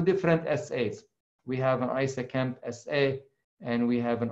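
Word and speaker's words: ISAKMP: what isa camp and it's pronounced isa camp everybody is used for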